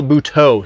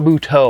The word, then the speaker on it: Buteau: River guyo and Mike Michelle bhuto sorry Michelle buteau I apologize for mispronouncing